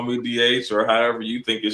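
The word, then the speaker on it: D'Aych: But the proper pronunciation is as uh Sandy said, DH.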